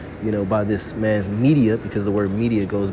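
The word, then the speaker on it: Medea: that up real quick this is media it's spelled m-e-d-e-a in greek mythology which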